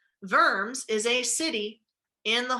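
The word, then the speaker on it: Worms: the diet of vermes remember that the W is pronounced like a V vers is a city in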